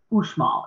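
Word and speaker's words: Uxmal: area actually this is um ushmal is how you say that that that that's sorry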